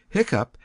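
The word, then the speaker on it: hiccough: Hiccup has the sound of cup.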